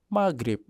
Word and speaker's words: magrib: Selanjutnya magrib maknanya waktu matahari terbenam.